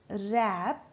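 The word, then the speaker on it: wrap: दें आईआरएपी अप मैं रैप रैप में हमारा व साइलेंट रहता है रैप अप माय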